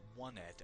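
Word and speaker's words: Onett: Now this place, I call it Onet. I've heard others pronounce it Onet, as in the number 1.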